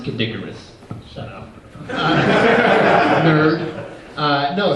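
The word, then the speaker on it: Kid Icarus: that the sequel on the game board it's pronounced kidicarus shut up nerd uh no seriously that is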